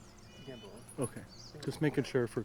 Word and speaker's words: Gamboa: Gamboa.